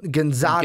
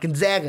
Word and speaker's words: Gonzaga: Remember, we were corrected on this. It's not Gonzaga. It's Gonzaga. They're the Zogs. Remember? We always got those comments last year. We always got those comments of how we're pronouncing Gonzaga wrong. It's not Gonzaga. It's Gonzaga. It's Gonzaga, Brandon. No, it's Gonzaga.